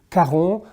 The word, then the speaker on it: Caron: Caron with the famous Pour un homme, for a man, which is an iconic fragrance, so it's very easy to pronounce, Caron.